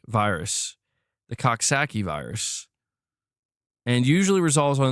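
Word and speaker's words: Coxsackie: It is typically caused by the Coxaki virus, bro.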